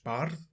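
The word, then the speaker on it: bardd: celtic word in origin from golic bard and welsh bard which is spelt b-a-r-double d and these were incredibly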